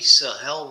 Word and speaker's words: Sahel: um let's talk about the Sahel region of Africa um emphasis on hell uh it is basically